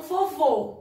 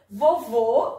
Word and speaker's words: vovô: tônicas também isso mesmo o acento circunflexo ele faz com que as palavras têm um som fechado tá certo como vovô olha só vovô é até circunflexo né